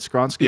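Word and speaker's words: Skoronski: But I think, to me, I would go Paris Johnson over Skronsky is that how you say it, Skronsky?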